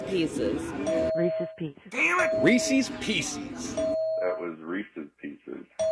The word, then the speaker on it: Reese's Pieces: everyone pronounces those words Reese's differently. I know. Pieces. When I was a kid, I said Reese's Pieces, but I think that's wrong. No, it is Reese's Pieces is right.